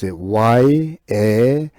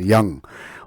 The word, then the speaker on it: yam: Yam means Y-A-M, yam. Or maybe sometimes we calling the pronunciation yang, Y-A-N-G, yang, like this.